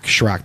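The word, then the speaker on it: Sharrock: Shrock, that's how you say his name.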